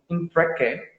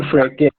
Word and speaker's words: Mfreke: This one is coming from Impreke. Hope I got the pronunciation right. The question is, I am Come working. again with the name. It's spelled Mfreke. So I'm pronouncing. Mfreke.